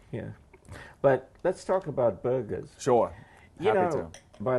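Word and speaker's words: Burgher: what they call a burger. All right. Do you know that? No, I didn't know that. Wow. B-U-R. B-U-R? G-H-E-R. No kidding. Yeah. And the H is silent.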